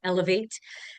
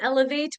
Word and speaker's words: eLOVEate: I am the owner of Elevate. Uh, sounds like Elevate, but spelled with the word love in it because I believe that